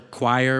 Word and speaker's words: choir: Or choir which rhymes with liar and as well as squire and fire and p and frier and probably a dozen more.